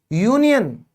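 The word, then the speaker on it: union: यूनियन, यूनियन। तो जैसे आपने यहां पर क्या किया था? यूनिवर्सिटी, इसी तरह ये भी क्या है? यूनियन, है ना, यू की आवाज आई है।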